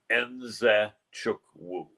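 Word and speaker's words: Nzechukwu: He said his last name is pronounced Enzochukwu. So it's Kennedy Enzochukwu. And a lot of people try to think the Z is silent or the N is silent.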